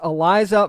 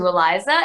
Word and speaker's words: Aliza: It's Aliza, who plays Ronnie. Aliza, how you doing? Good, good. It's Aliza, by the way. It is Aliza.